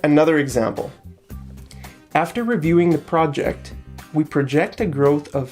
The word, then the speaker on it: project: and a verb okay the project the stress is on the first syllable and project the verb it's on the second syllable okay so after reviewing